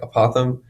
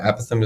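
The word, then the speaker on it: apothem: t h m APM I know if you sound it out it might look like apoem but apam is the correct way to pronounce it so this aatham we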